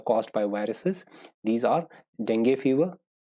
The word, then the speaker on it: dengue: These are dengue fever, right? I'm saying this dengue because I think that's the right pronunciation, dengue, not dengue. We usually say dengue, right? But the correct pronunciation is dengue fever, right?